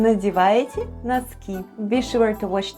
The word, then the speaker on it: НАДЕВАЕТЕ: ВЫ НАДЕВАЕТЕ /vêê nadyevayetye/ where ВЫ is "you" and НАДЕВАЕТЕ /nadyevayetye/ is "are putting on" and all together it's is ВЫ НАДЕВАЕТЕ.